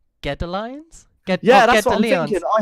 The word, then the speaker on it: Godalions: I've actually just had someone message me saying it's actually pronounced Godalions.